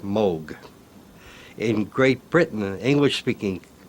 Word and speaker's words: Moog: Uh, in Germany, it's a fairly common name and there it's pronounced Moog. In Great Britain and English-speaking countries, uh, people see the double O and they say moog.